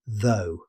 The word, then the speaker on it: though: Staying with the "aw" family, let's look at though. This one's nice and short. Native speakers simply say though. Just one syllable.